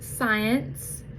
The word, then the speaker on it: science: Here we have SC which says like in science.